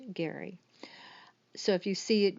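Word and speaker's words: Gerry: I did spell Geri GE rry but it's pronounced Gary so if you see it written you'll know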